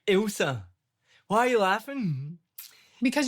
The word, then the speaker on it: Ilse: Like Elsa from Frozen? Like, that's Elsa.